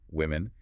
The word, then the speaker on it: women: The plural women shifts the first vowel entirely to a sharp hyos sound. Even though there's an O in the spelling, it's totally counterintuitive.